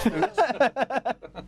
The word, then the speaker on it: Fuchs: I'm not going to pronounce it that way. It's Fuchs. You know, kids watch this.